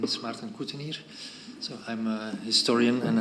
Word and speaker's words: Martin Cottenier: My name is Martin Cottenier.